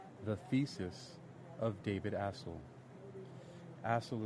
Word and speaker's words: Astle: Astle is spelled A-S-T-L-E, David Astle, you can say. I've never met the man, nor do I have heard how to pronounce his name, so I'm pronouncing it Astle or Astle.